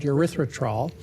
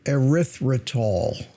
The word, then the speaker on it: erythritol: And we're talking about erythritol. Erythritol. And this doctor continually mispronounces it. Erythritol. Stuck an R in there.